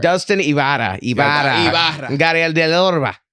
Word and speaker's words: Ibarra: Ibarra. Am I getting closer? Little, but keep going. Say Ibarra. Ibarra. You just gotta learn how to roll your R's. How do you roll your R's, man? You just put your tongue on the roof of your mouth and just like blow out like.